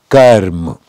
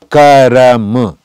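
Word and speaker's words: कर्म: Karma, we pronounce karam, but in songs and in it is broken Hindi, it is not the exact one, but in speaking, somebody says karm and somebody says karam.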